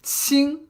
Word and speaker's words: 亲: But 亲, it doesn't have the G, okay? So it doesn't have the G at the end. 亲, all right?